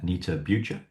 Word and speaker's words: Anita Bucher: Anita Bucha. Looking forward to our conversation. Did I get the pronunciation about right?